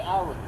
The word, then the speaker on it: Alaric: False Alaric robbery. My name, Alaric. A-L-A-R-I-C. Last name. Alric? A-L-A-R-I-C. Alaric. Yep. Alric. You pronounce it like Alric.